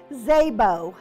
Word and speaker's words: Szabo: county commissioner let's start by pronouncing her often mispronounced last name Szabo Libby Szabo was sworn in on january thirtieth